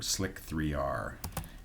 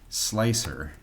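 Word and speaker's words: Slic3r: install is sudo app install so Slicker or slick 3r it's actually slicer with a backwards but um people for some reason pronounce it slick 3r but it's really probably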